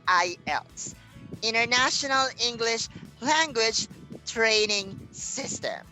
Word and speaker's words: IELTS: right so everybody uh the correct pronunciation of that words is not islets it's ielts international english language training